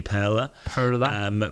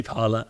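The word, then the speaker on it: Pärla: I mean, depending on what country you're in, I think the correct pronunciation is probably Parla. But we say Parla.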